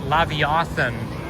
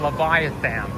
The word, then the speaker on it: Leviathan: Some people pronounce it Leviathan. No, it's pronounced Leviathan, not the other way.